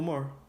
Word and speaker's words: Maher: Bill Maher. Oh, is that how you pronounce his name?